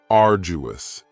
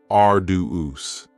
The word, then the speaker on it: arduous: Next is arduous, and arduous has 3 syllables, and the stress is on the first syllable, arduous. Now, you don't hear that D sound that much. It's not very strong. It almost sounds a little like a J.